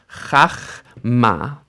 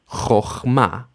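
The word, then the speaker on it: חכמה: So what happens to that kamatz in its closed, unstressed syllable is it becomes an O sound. Chochma, chochma.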